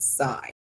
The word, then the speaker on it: scythe: I grew up, we were taught to pronounce it sigh. She was silent, but my kids say scythe.